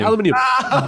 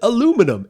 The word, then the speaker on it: aluminum: else do you have it's that metal uh aluminium i'm like yeah right okay aluminum that's awesome that makes sense because that's how you pronounce that word we call it aluminum and i swear all three of these like seven like seven five-year-old kids they're like making fun of how we say aluminum and it's warranted because